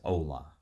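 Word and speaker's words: olá: as the official language hello in Portuguese is spoken as ola Kent visited several locations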